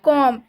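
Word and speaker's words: comb: अगर हम कॉम्ब पढ़ेंगे तो ये गलत उच्चारण हो जाएगा, इसे हम पढ़ेंगे कॉम, क्योंकि इसमें बी साइलेंट है।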